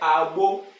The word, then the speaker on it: Agbo: If you want to pronounce it the way my surname is really, you say Abo, Abo, Abo, high tone, Abo.